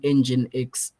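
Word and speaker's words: nginx: the in the chat guys what is an engine x uh server it's spelled n g i n x I want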